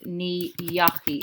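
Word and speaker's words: ní dheachaigh: To say I didn't go, it's ni yachi. It changes spelling to an unusual spelling, I know.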